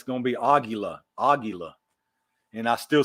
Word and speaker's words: Aguila: From what I've been corrected on and what I've actually looked up, it's supposed to be Aguila. Aguila. Like the emphasis is on the first, the Aguila. I've got a habit of saying Aguila. I emphasize the gi, but it should be Aguila.